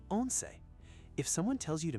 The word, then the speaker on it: once: It's actually the number 11, pronounced once it.